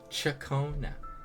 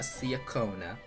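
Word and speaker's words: Ciaccona: C Chakona.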